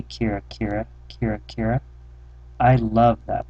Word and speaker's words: Kira-Kira: me my first word Kira Kira I pronounced think kaaha but she knew what it meant kir